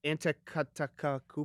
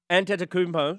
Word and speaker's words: Antetokounmpo: And Giannis, and how do you pronounce that last name? Antetokounmpo. Oh, bro! I'm the like sports guy. I know. Antetokounmpo.